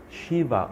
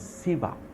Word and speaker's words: Shiva: they will tell you Shiva or some will pronounce him as Siva is God this is